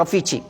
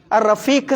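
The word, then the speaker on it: رفيقي: എന്നാൽ അഫ്യൂജി റഫീഖി എന്നുള്ള പോലെ കൊളോക്കിയൽ ഭാഷയിൽ പറയുന്നതാണ് റഫീച്ചി എന്ന് പറയുന്നത് അല്ലേ? അതിൻ്റെ സുഹൃത്താണ്. അത് നമ്മൾ കൊളോക്കിയലൊക്കെ വ്യത്യാസം ഉണ്ടാവും. അതേ അർത്ഥം തന്നെയാണ്, ഉച്ചാരണത്തിൽ എന്തുണ്ടാവും? റഫീഖ് എന്നാണ് ആ പറയുന്നത്. അത് എന്ത് പറയാണ്? റഫീഖി ഒന്ന് പറഞ്ഞു നോക്കിയാണ്. റഫീഖി അതാണ് റഫീച്ചി അറിയണത്. ആ കൊളോക്കിയലുള്ള വരുന്ന വ്യത്യാസം.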